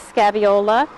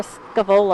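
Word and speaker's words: Scaevola: okay and this variety this is scaviola or scava I think is the real way to pronounce it um this is also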